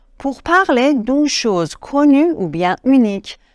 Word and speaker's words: des: d d e s on ne prononce pas le S D ok un une